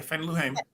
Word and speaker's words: Fannie Lou Hamer: If Fannie Lou Hamer, did I say her name right? Yeah, Fannie Lou Hamer.